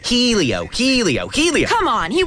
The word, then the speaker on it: Helio: He's Sam Hornes Jr.'s teammate who's very hot and it's pronounced Elio.